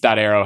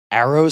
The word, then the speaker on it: Aero: Arrow has a sister site called rooms.